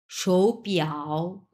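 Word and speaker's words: 手表: সো তাহলে এই শৌটা তখন 2 নাম্বার টোন আমরা উচ্চারণ করব। তাহলে কি হবে এটা, শৌ পিয়াও শৌ পিয়াও।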